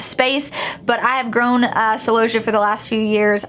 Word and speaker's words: celosia: Now we have celosia, which is celosia, depending on where you live is gonna depend on how you actually pronounce that. I say celosia.